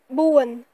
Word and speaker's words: បួន: ainsi en lettres et quatre se dit bauwen bon one o one